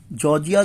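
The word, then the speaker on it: Georgia: hills of जॉर्जिया जॉर्जिया जॉर्जिया कहना इसे भाई जॉर्जिया और साइलेंट कर द जॉर्जिया या जॉर्जिया ही बोल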